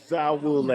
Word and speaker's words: Bazawule: Well, Blitz Bazawule, thank you so much. Did I pronounce that correctly? Bazawule. Bazawule. I said Bazawule. Awesome. I didn't hear the Z though.